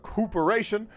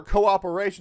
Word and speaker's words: cooperation: more love next we talk about cooporation or cooperation depending if you want to pronounce it correctly or incorrectly like I did after the master